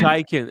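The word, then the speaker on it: Chaykin: How do you pronounce his name? Chokan watches. What's his Shaken. Chaikin.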